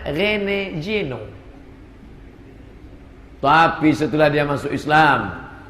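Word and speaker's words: René Guénon: Tulisannya Reneguenon, Rene Guenon. Cara bacanya Rene Geno.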